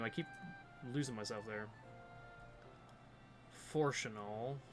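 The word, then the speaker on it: Fourchenault: Forchanal. Forchanal? French. It's annoying.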